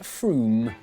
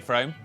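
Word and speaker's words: Frome: It should be blitheringly obvious is pronounced Froom. But if you did say Froom, don't worry.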